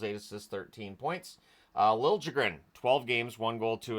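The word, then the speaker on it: Liljegren: assists 13 points uh Lil jren 12 games one goal two assists three points I'm well aware of what that sounds like that's how he wants it pronounced on the Utah side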